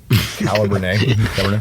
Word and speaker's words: Cabernet: Where's the L in Cabernet? How do you? Cabernet. It's a French pronunciation.